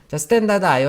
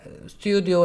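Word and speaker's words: stdio: 얘기를 또 할 거예요 스탠다드 아요 헤더파일 스튜디오 라고 읽으면 안되구요 센다 나요 라고 읽어야 됩니다 그래야지 스펠링 오타를 안 낼 수 있어요 스탠다드 아요 헤더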